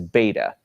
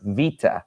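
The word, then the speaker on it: βήτα: Vita and of course if you're used to the Americanized pronunciation or the reconstructed pronunciation you you would know this as beta but it's actually pronounced Vita and it makes a v sound like a V and Vita is basically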